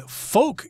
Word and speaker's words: folk: these games as being folk games folk here f-o-l-k the L is silent there refers to people or